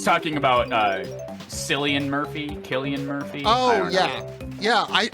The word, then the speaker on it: Cillian: it's actually sillian and then I'll say Cillian and someone will get in my face and go it's actually Killian at which point I